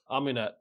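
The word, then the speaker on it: Amaunet: Amunette.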